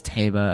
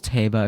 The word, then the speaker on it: Teba: Teba, all that, but, how you pronounce his name is Teba, apparently, from Zelda's pronunciation, Hyrule Warrior's Age of Calamity. How you pronounce is Teba, apparently.